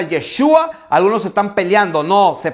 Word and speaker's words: Yeshua: dios manifestado en carne que su nombre se pronuncia yeshua algunos están peleando no se pelean dice no